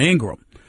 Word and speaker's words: Ingraham: ingram hosts on fox's laura ingram not ingraham i apologize again for mispronouncing her name it's laura ingraham uh host of fox